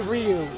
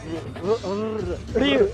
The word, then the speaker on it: Ryu: Well, I mean, okay, a lot of people like to say Ryu as though that's correct, but that's not correct either. You say it. I really like how you say it. Ryu, because it's not say it like a Yakuza gangster. Because they roll their R's.